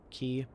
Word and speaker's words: quay: Ferries are brand new, so we get a ferry depot, shoreline, quay, or key, however you want to pronounce it.